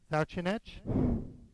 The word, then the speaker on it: Sawczynec: Sawczynec.